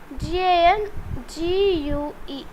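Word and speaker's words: gangue: so let me write that spinning it the pronunciation is different from spinning that's why I need to g-a-n g-u-e gang so these gang is helps is not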